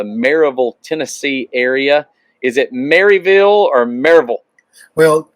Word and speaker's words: Maryville: uh from the maryville tennessee area is it maryville or marvel well correctly pronounced it's marvel there you go that's what i thought so